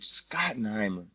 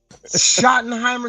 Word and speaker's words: Schottenheimer: was Brian scotten Heimer what you got his name wrong Schottenheimer scotten Heimer whatever the they call his ass I I swear I heard somebody call him scotten Heimer but I guess it's Schottenheimer isn't it you don't you